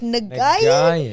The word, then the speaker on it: Nguyen: And I'll be like, "Nwin?" The G is silent. The G is very silent.